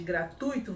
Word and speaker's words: gratuito: Você pronuncia sem fazer aí essa separação silábica. Ao fazer a separação silábica de gratuito, você tem três sílabas e não quatro.